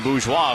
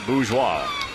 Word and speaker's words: bourgeois: It is fun to say bourgeois. B-O-U-R-G-E-O-I-S. You know how I spell that? B-O-O-Z-W-A-H.